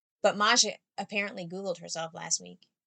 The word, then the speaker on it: Masha: maja's gonna be but maja interestingly her name rhymes with my hebrew name that i chose for myself so my hebrew name is masha m-a-s-h-a so i clearly just love that yeah